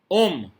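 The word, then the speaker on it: homme: Next example, अब देखिए एच जो है वाउल नहीं है हालांकि, लेकिन एच साइलेंट रहता है फ्रेंच में, तो ये ल है, ल मीन्स द, डेफिनिट आर्टिकल होता है ये फ्रेंच में। ओम मीन्स मैन, ल ओम।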